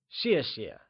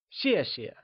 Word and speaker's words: 谢谢: Let's try and say 谢谢. Once again, it is said with a falling tone, like 谢谢.